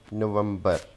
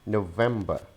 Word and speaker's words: November: So this is not November. Again, we are adding a schwa sound and removing the R sound from the end. So it is November, November, November.